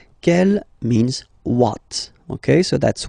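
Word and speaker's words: quelle: q l l but it's pronounced like the masculine form Kell the masculine k at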